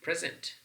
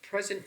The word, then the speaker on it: present: So present and present both are spelled the same way. However, the only difference between the two is present is functioning as a verb, the stress pattern is on the second syllable.